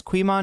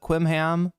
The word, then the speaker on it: Quiman: It's Quiman, not uh Quimham.